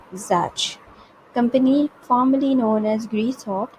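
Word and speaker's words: Czech: अब देखो ज़ैच it this C would be silent, it will be pronounced eight ज़ैच company formerly known as Greysoft.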